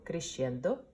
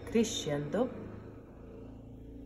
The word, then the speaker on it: crescendo: gimme no ENTER and Christian de let's repeat crescendo diminuendo let's do it again so first I will pronounce and then you go pronounce it crescendo diminuendo so Christian that means getting louder and